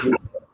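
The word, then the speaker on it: Bücher: Pronunciation होता है, जैसे ब्यूशर, ब्यूशर, ब्यूशर मीन्स होता है बुक्स।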